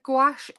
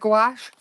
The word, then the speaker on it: gouache: Loads of people call it different things as well, but I think it's gouache. I think it sounds better. Some people call it gouache, but I don't think that's how you say it.